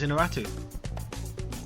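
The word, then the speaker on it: Iñárritu: You mean Alejandro González Inarritu? So close, Inarritu. Ah, you're a... He just absolutely butchered it badly.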